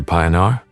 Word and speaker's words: Pionar: Pionar. She pronounced the first part like pie.